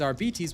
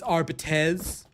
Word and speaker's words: Arbites: The official Warhammer pronunciation is rbs which I confirmed with games workshop. Yet, there were still people that tried to tell me, "Uh, excuse me. It's Arbites. It's Arbetz."